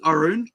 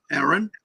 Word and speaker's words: Arun: The weird thing is, like it can be pronounced as Arun, right? It's actually a name and like a shortened actual name, Arun. And like I've had friends call me Aaron. I don't mind.